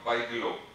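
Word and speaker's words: Bigelow: ligament is ligament of Bijlo or Bijlo, either way you can pronounce. So it is ligament of Bijlo, B-I-G-E-L-O-W, Bijlo.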